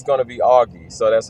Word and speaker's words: Augie: First name, friends call me Augie because it's pronounced Augustine.